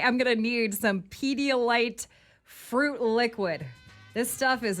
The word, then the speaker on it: Pedialyte: Pedialyte. Okay. Did I say it wrong? No, that's right. I wanted to make sure that people know the product. Oh, okay. Pedialyte.